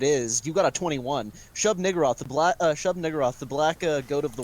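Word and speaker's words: Shub-Niggurath: Shub Niggurath, and it is pronounced Yeah, just that. Shub- If you think it's pronounced Shub Nagaroth, like how fucking Moon pronounces it, you're a jackass because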